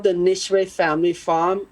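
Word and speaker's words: Nicewicz: go and pick your own it's called the nishway family farm it's spelled n-i-c-e-w-i-c-z and um their father's sides come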